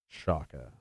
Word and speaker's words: Oaxaca: beer i'm gonna need to write down that pronunciation you give a semicolon there we go oaxaca because i'll forget chaka there we go thank you for that again